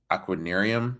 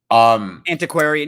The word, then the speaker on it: Antiquarian: In the 5, we have the winner of the before mentioned Peter Pan with Aquanarium. I think I pronounced that totally wrong. Antiquarian.